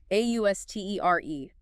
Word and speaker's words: austere: Austere, pronunciation. Austere. Stress on the second syllable. Steer. 2 syllables.